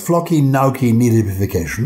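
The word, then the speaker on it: floccinaucinihilipilification: It's flocky knocky nahibification. That's how you say it.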